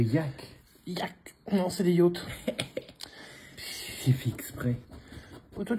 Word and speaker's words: yacht: Alors oui, je précise, hein, yacht, ça se prononce yacht, c'est pas yak, parce qu'il y a plein de gens qui disent yak.